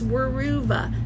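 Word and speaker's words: Weruva: So, how do I spell it? It's Wuva.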